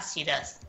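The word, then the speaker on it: Shiraz: Y para Australia se escribe SH y latina RAZ. Syrah. Ah, Siraz. Y es la Syrah. Siraz, es femenina, la Siraz, la Siraz.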